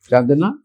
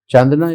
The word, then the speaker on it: Chandana: Chandana? Yes, sir. Good afternoon. Good afternoon. Please sit down. Thank you, sir. So, have I pronounced your name correctly? Yes, sir. Chandana is right?